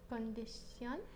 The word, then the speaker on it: condición: Condición. Condición. So the sh becomes a s, condición, okay? And the emphasis is on the o, so the last syllable, condición, okay?